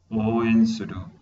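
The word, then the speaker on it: 応援する: Oen suru. O largo. Oen suru.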